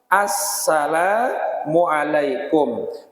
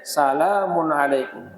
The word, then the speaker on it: assalamualaikum: Nah dalam salam kita sembahyang ini wajib pakai alif lam assalamualaikum. Maka salamikum. Nah, dan tidak cukup bilanya dibacanya salamun alaikum.